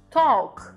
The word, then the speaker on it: talk: dentro dessas estruturas então Half Walk Talk ele desaparece ali dentro desse desse esquema de do som né então a gente puxa ele no Walk e no talk e no Half ele desaparece Então são essas diferenças